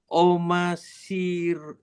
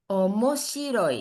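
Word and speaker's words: 面白い: Omasirui. Oke, ini mo. omoshiroi.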